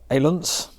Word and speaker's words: Ailunce: So this is the Retevis Ailunce, I believe it's pronounced.